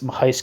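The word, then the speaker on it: Machajski: incorporates the work of makisi which is spelled weird I think it's Mahi is how you actually say it is only too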